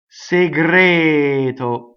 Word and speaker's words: segreto: Il, segreto, rhymes with discreto, single T, close D on the stress.